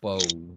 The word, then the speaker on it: Bok: Oh yeah, aren't they the Mountains of Bok? I didn't know they're pronounced that way. Pronounced Bow, but. Yeah, they're spelled Bok, like a chicken.